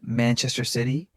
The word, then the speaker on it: Manchester City: Manchester City. Manchester City. Remember stress man and sigh. Other syllables light and quick.